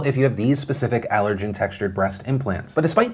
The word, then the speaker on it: Allergan: Also, a quick update, I've just been informed it's pronounced Allergan.